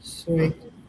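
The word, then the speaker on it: Ceuta: After E and I, the C makes an S sound. Suesta, Suesta, Uh, Sueta, hmm. Sueta.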